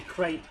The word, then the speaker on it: crepe: and asking for it you've got to say crate and not uh mispronounce it well it's crap yeah otherwise they go